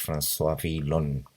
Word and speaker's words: François Villon: 45 acerca de un poema del poeta francés François Villon, así se pronuncia más o menos.